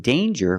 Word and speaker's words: danger: danger and anger so with danger we hear the J sound Danger there's no nasal sound there's no um it's a regular n Dane with Egypt sound like jump and Juice danger but we see this